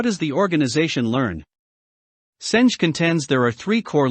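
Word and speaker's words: Senge: on learning organizations especially peter m senj pronounced singi is a resounding yes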